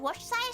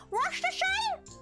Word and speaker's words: Worcestershire: Worcestershire is really hard to pronounce. Worcestershire? It makes Tori sound so British when she says it. Worcestershire. Worcestershire sauce. Or what many call Worcester.